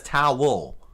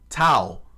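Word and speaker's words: Tau: you know, Tao. T AU. I could pronounce it as Tao. Towel.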